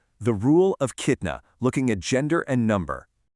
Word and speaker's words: kitna: So, if the noun is masculine and singular, you just use the root form, which is kitna. Notice that strong ah sound at the end there.